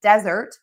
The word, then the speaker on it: desert: meal, stress syllable 2, and then desert, sand, stress syllable 1, because sand only has 1 syllable.